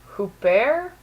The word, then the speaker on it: Huppert: Isabelle Huppert. That's how I would pronounce her last name because I took French, but yeah, I'm just gonna go with that.